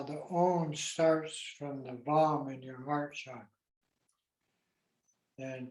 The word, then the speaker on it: Bam: Sound the syllable bomb. Once for you and once for infinite sentient beings. Bomb. In Tibetan, it's Bam, B-A-M.